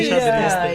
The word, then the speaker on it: enxadrista: mesmo, a pronúncia Olha, é enxadrista.